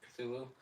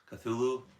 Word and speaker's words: Cthulhu: Cthulu. Cthulhu.